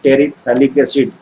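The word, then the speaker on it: terephthalic acid: Terylene ऐसे याद रखो, टेरिलीन, टेरी मतलब टेरेप्थैलिक एसिड। देखो बेटा पीएच का प्रोनाउंसिएशन नहीं होता है, इसको पढ़ते हैं टेरिथैलिक एसिड, बट पीएच यहाँ पे साइलेंट है।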